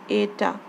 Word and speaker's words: eta: Then this symbol is known as, pronounced as eta, okay?